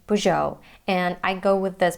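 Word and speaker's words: Peugeot: while doing my research I heard native speakers pronounce this brand many different ways even poo goo which is not right beautto unnecessary and most of the Americans say poo show and I go with this pronunciation and remember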